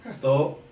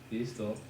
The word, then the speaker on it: Estou: Estou. Stop. Estou. No, listen. Listen. Estou. Isto. Isto. But you say it like this. Estou. Isto. Isto. Estou à procura.